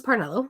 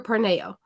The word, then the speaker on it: Parnello: So, if I go somewhere, they say, "Is it Parnello or Parneo?" Because in Spanish, two L's makes more of a Y sound.